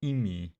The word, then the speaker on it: ME: What is ME storage is pronounced EMI and stands for matter energy.